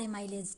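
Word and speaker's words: amylase: एमिलेज जो है वो बुक में लिखा था इसलिए मैंने साथ में ये भी लिख दिया, ठीक है। जो इसका प्रोनाउंसिएशन होता है वो होता है लार एमाइलेज, ठीक है।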